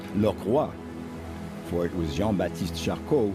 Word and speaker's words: Lockroy: base of Port Lockroy it really should be pronounced look what for it was Jon batiste